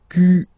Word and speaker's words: quel: Quel, masculine form here, will be pronounced exactly as the feminine form here. Quel. So only one sound, okay?